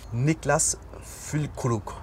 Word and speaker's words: Niklas Füllkrug: Niklas Füllkrug. Good. Niklas Füllkrug. Füllkrug. Ah, okay. Yeah. You pronounce sound R different from us. You pronounce the sound R in the Bavarian style.